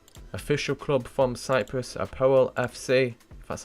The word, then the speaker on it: APOEL: So the first team in Group P, official club from Cyprus, Apoel FC. That's how you pronounce it.